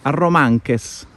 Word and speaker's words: Arromanches: Arromanches. Sì, senza la S finale. Arromanche.